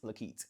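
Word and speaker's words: La'Keit: All right, so my full first name is Lakeet. It's dashed and LA' capital KEIT.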